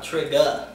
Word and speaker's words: Trigga: Is it Trigger or Trigga? Trigga.